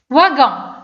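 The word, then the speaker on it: wagon: مثلا هنا واغون، دونك واغون يعني كنطق به على شكل فا ماشي وا فا.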